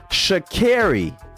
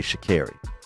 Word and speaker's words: Sha'Carri: Sha'Carri is how you say her name. Sha'Carri, not 'Cause I- Sha'Carri. Because I heard her correct someone in an interview, and I heard her say Sha'Carri.